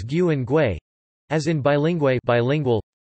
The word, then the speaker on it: bilingüe: and GUE, as in bilingüe bilingual, to indicate that the U is pronounced W, rather than having the usual silent role that it plays in unmarked GU and GUE.